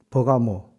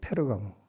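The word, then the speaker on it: Pergamum: 버가모, 영어로 발음하면 페르가모.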